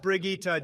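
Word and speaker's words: Brigitte: in a and moving on unbelievable we have Bridget next it's pronounced brigitta Jesus Christ Barack and you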